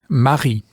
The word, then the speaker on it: mari: the word for husband, which is Mari. For those of you listening at home, be careful to get the gurgled French R sound in the middle of this word.